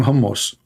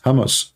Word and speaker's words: Hamas: hamus hamus terrorist Trump he do not know how to say the word Hamas he called him hos he just called Hamas hos Hamas what Hamas okay so